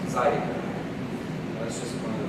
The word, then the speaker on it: zydeco: Because in Louisiana French and Louisiana Creole, the R is not pronounced like in France, it's pronounced with the tongue behind the teeth, and it sounds like a T sometimes. So, Zydeco becomes Zydeco.